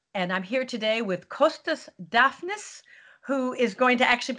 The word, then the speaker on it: Costas Dafnis: But Costas Dafnis is a perfectly good substitute.